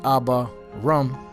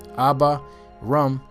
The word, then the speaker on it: Abram: was named Abram first which means ABA rum ABA rum ABA means father and rum means exalted or exalted father so